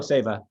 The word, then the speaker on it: Saiva: how how do you pronounce it most people pronounce it seva and save as just fine how do you pronounce it oh sava oh okay well then we'll go with that